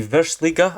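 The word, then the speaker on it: Virslīga: And we're going to try and turn the Latvian league, the Versliga, I believe it's pronounced as, into the best league in Europe.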